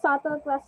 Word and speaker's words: subtle: what the sato means it's subtle silent b subtle the mian gave me